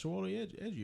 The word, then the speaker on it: Chiwetel Ejiofor: That's not Chiwetel Ejiofor, is it? Yeah, it's Chiwetel Ejiofor. Oh, that's how you pronounce that.